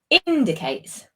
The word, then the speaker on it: indicates: I would put the word stress slightly differently. Indicates. Indicates. Indicates on the lovely. Okay. That's it on the first syllable there.